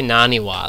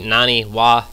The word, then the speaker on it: NaNiwa: actually naniwa last game I was calling him Nani and then actually I started calling him Anie because his name is spelled n capital A and I so I started calling him Anie but it's actually naniwa I wasn't sure um